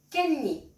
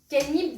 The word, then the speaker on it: 깻잎: On restera sur une trame similaire, donc lecture-prononciation, explication-traduction et écriture. C'est parti. Ilbon. Kenni. Kenni, donc ce sont les feuilles de sésame.